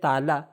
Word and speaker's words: تعالیٰ: خدا کی عظمت اور جلال کو بتانے کے لیے کہتے ہیں اللہ تعالی. ہم اردو میں کہتے ہیں تعالی، لیکن جو صحیح تلفظ ہے وہ ہے تعالی.